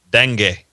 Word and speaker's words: dengue: Brazil is releasing, get this, especially if you're in Louisiana or the South, mutated mosquitoes to fight from, I can't even pronounce this fever. Dengue.